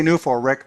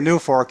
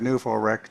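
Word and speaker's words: NUFORC: other folks founded New For I I say New for Rick, by the way. If you say New Fork, you think of Peter Davenport. And so, I pronounce that Newf Rick to differentiate them.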